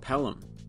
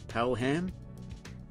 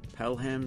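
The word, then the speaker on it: Pelham: on I've been saying palum but they pronounce the h in Birmingham so I guess it's Palam Palam Civic sensor are the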